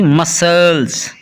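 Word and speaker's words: muscle: आगे है जी science, S सी आई ई एन सी E science, S के बाद सी है यहाँ भी सी साइलेंट है। आगे है जी मसल्स, मसल में भी एस के बाद सी लिखा है इसलिए सी साइलेंट है।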